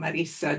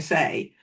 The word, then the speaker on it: Marisa: But I get called anything from Marissa to Melissa to Marcia. Take your pick. And it's lovely to hear you saying my name as it's meant to be said.